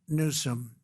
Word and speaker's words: Newsom: If Gavin Newsome let the water come down, see the way I pronounced his name properly for a change.